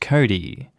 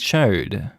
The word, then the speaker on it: chode: of a situation where chode would be reasonably pronounced cody there are situations where ch makes a k sound i.e character but regardless it still says chode not the [ __